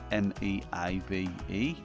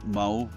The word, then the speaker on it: Meave: I don't know what it's called, but that's how it's spelled, M-E-A-V-E. I thought it was Mauve, but it ain't, it's Meave.